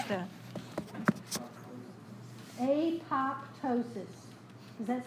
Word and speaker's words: apoptosis: can write it how do you want to pronounce that a pop ptosis does that sound right to you it dozens